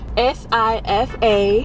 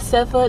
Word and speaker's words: Sifa: My name is SIFA, spelled S-I-F-A. Pronounced SIFA, not SEFA, not SIFA, not SOFIA, not SAFIA, none of that.